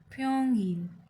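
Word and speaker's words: 평일: And week में weekdays को कहते फ्योंगिल फ्योंगिल फ्योंगिल।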